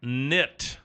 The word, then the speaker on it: knit: Paul looker congratulations and your $100 word of the day for today is nit nit KN niit T nit not nit it's K nit please don't tell me